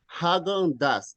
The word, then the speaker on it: Häagen-Dazs: So don't worry, we don't know the pronunciation. However, I was checking that it is Häagen-Dazs. That is the name of this one. Häagen-Dazs.